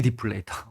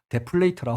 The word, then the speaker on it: 디플레이터: 어, GDP 디플레이터. 데플레이터라고 발음할 뻔했네.